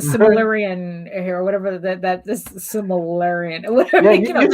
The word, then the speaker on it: Silmarillion: It's like I'm not Tolkien, so I'm not doing the Silmarillion here, or whatever this Silmarillion, or whatever.